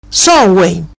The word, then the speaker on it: Samhain: La vigilia de Samhain era pronunciado en la primera Bretaña, Samhain.